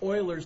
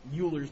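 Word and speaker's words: Euler: Down in the south they'll call it Uler, but talk to the German students. It's Oiler.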